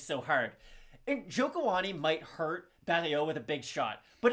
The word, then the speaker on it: Barriault: travaille aussi au Québec, donc c'est Marc-Andre Barriault. On prononce pas le T.